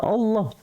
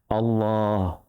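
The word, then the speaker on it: الله: Yang dibaca panjang itu lafaz Allah, Allah gitu ya, bukan akbar, itu salah.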